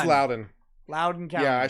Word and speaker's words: Loudoun: signaling after va tech it's pronounced louden loudoun is louden loud and calm yeah